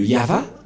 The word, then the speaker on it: Yahvah: invoqué le nom de Yahva, et la prononciation de Y-H, Vav, He, selon les Hébreux, c'est Yahva, et personne ne peut